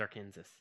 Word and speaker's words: Arkansas: It is Arkansas. Arkansas. That's not how it's said.